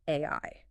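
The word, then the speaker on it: 愛: In Japanese, the kanji character for love is pronounced AI. Wait, the exact same phonetic sound as the acronym for artificial intelligence?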